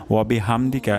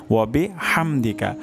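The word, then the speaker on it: وبحمدك: হা উচ্চারণ হবে অর্থাৎ গলার মাঝখান থেকে হা উচ্চারণ হবে তো আমরা এটা খুবই কেয়ারফুলি উচ্চারণ করব ওয়াবিহামদিকা বলবো না ওয়াবিহামদিকা এটা ভুল উচ্চারণ তাহলে সঠিক উচ্চারণটি হবে ওয়াবিহামদিকা হা ওয়াবিহামদিকা সুবহানাকা আল্লাহুম্মা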